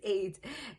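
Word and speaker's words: עד: How do we say eid in Hebrew how do we say witness in Hebrew is eid.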